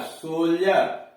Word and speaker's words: soldier: फिर ध्यान से सुनिए, जब किसी वर्ड में डी के पहले एक से अधिक लेटर्स हो, अक्षर हो, और डी के बाद EUR, IER, UA, URE हो तो डी का उच्चारण ज होता है, ड नहीं होता है।